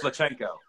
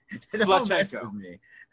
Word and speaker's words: Pacheco: It's actually Pacheco. It's what? Pacheco.